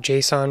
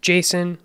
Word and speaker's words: JSON: ahead and talk about Json real quick now you may hear this pronounced Json or Json either one no big deal but it's basically a